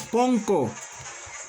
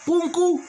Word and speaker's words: punku: Es Punku, escrito, pero pronunciado no es Ponko. Punku, Punku.